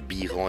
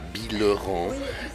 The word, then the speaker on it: Bilheran: pour les extraterrestres que Biran se prononce Biran et non pas Billeron parce que les gens